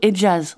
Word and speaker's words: Hijaz: région qu'on appelle le Hijaz, un toponyme qu'on prononce plutôt Hejaz en français.